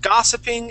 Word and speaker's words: gossiping: The word gossiping is very similar. The accent is at the very beginning of the word, and that is an aw sound that the O makes.